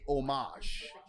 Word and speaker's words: homage: with what I think I think it's a French like a pronunciation so I in French you wouldn't pronounce the h so I think you would say homage that is sweet my